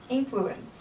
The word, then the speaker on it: influence: part there's a word influence has the first syllable stress always regardless of whether it is used as a noun or verb then on page 35